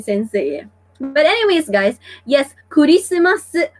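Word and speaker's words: クリスマス: But anyways, guys, yes, Kurisumasu, because guys, once again, Japanese are speaking through syllables, so Christmas is called Kurisumasu in Japanese.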